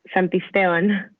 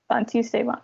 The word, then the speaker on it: Santisteban: Yes, Santisteban. Santisteban.